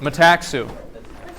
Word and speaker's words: metaxu: How do you pronounce it? Metaxu.